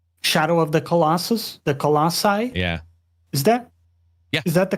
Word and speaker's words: Colossi: the giants in Shadow of the Colossus, the Colossi. Yeah. Is that the correct plural? That's correct pronunciation, yeah.